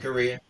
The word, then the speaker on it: Corea: bands and stuff, but Chick Corea, how do you say that? yeah, Yeah. Korea. Uh-huh.